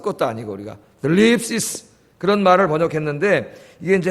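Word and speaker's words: θλῖψις: 자, 여기 환난이라는 말은 헬라 말은 이제 슬립시스. 이 번데기 발음이에요. 번데기 발음. 여러분 TH 발음. 슬립이라고 할지 들립이라고 해야 될지 그 중간 발음이니까 하여튼 뭐 헬라어 쓸 것도 아니고 우리가 슬립시스 그런 말을 번역했는데 이게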